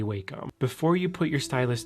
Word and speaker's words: Wacom: Before you ever put your stylus to your Wacom, I don't care how you pronounce it, I say Wacom.